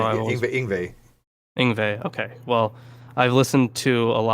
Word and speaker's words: Yngwie Malmsteen: But Yngwie Malmsteen is the greatest arpeggio guitarist of all time.